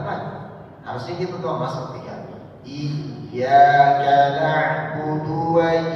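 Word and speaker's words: إِيَّاكَ: Iyyaka na'budu wa iyaka nastain. Ya. Jadi beda bacanya dengan iya apalagi dia digunahkan gitu ya. Atau tidak ada tasdid.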